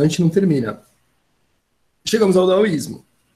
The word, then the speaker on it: daoísmo: Então, se fosse contexto, a gente falaria taoísmo, não é exatamente essa a pronúncia, vai ser daoísmo mesmo, é um D mais seco, mais curto, sem tanto ar saindo, ou melhor, sem ar saindo.